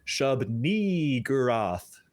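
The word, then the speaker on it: Shub-Niggurath: You really got to hit and extend that second syllable, and it needs to have an E sound. I will demonstrate. Shub-ni-gurath.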